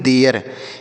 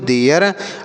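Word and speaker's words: there: दोनों को याद रखिएगा आगे टी एच ई आर ई और टी एच ई आई आर तो टी एच ई आर ई इसे हम पढ़ते हैं देयर क्या पढ़ते हैं बच्चों देयर और इस टी एच ई आर को टी एच ई आई आर को क्या पढ़ते हैं इसे भी देयर पढ़ते हैं दोनों को देयर ही पढ़ते हैं लेकिन देर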